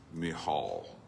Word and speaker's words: Michal: background, and I actually, one pronunciation is Michal on that name, by the way. I did the deep dive, I can't help it. It looks like Michael Mitchell something, Michal, well, yeah, whatever.